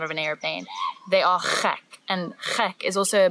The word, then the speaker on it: gek: They are gek. And gek is also a bit of a gek word to know, because it's like the ch sound and the ek, which means me.